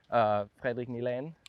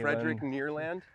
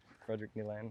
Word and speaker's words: Nylén: Fredrik Nylén. Okay. Fredrik Nylén. Fredrik Neerland? Maybe that's how you say it in English. Fredrik Neerland? Fredrik Nylén.